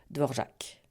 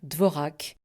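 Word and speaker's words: Dvořák: dissociés et bien sûr ils mettent l'accent sur la dernière syllabe sans nuance de longueur devorc et c'est très bien comme ça. Il faut juste éviter de dire dvorac comme si le caron était purement décoratif.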